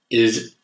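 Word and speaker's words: עַי: AI in Hebrew is pronounced I, as in the all-seeing eye.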